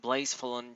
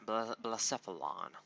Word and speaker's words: Blacephalon: Next up we got Blazefulon GX. I'm hoping that's how you say it. I didn't play Sun and Moon, Ultra Sun and Moon yet. Blazefulon, Blacephalon, like a dinosaur.